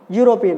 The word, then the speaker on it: European: The friend is European, okay? So here it's not a vowel sound, we have a Y sound, okay?